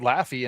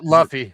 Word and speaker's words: Luffy: But they had Laffy in the what the Christmas parade, the the big national one up there.